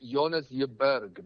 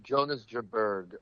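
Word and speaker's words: Jonas Jeberg: Uh, Jonas, he's he's uh Danish, so it's uh the way they say is Jonas Yubberg, but Jonas Jabberg is how I say it in in American.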